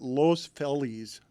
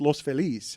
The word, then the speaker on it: Los Feliz: Everyone there calls it Los Feliz. And I'm like, it's Los Feliz.